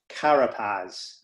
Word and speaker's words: Carapaz: in cycling you repeat his name please richard karapaz and just in case my pronunciation is off c-a-r-a-p-a-z richard carapaz he sounds